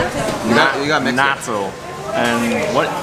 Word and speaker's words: natto: Natto.